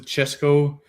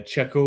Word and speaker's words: Chesco: I pronounced it Chesco. I Mm-hmm. think like Spanish people they say Checo or something. They don't pronounce the S, Oh, but okay.